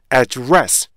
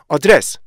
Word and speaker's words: address: 이 발음하실 때 발음하실 때 충분히 입을 못 벌리고 address 이렇게 발음하셔야 돼요. 그런데 이게 속도가 점점 빨라지잖아요. 그러면은 맨 앞에 부분에 강세를 받지 못하는 에 부분이요. 더 약화가 돼요.